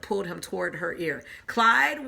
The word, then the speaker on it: Clyde: Clyde, what a nice name. It rhymes with slide.